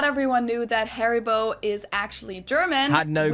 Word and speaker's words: Haribo: Maybe not everyone knew that Haribo is actually German. Had no clue. We pronounce it Haribo.